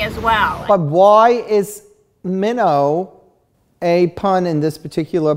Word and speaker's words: Minnaugh: tantalizing tale of grace minnow which is your book and Anne grace minnow is spelled minnow is spelled mi and and a ugh but it also is